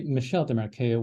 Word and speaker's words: Michel Desmarquet: his name is actually Michelle DeMarco when it's pronounced in French okay I was searching